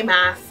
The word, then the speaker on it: Maas: book right here by Sarah J Mass it's Mass people Jesse interviewed Sarah J mass in her video and she told us how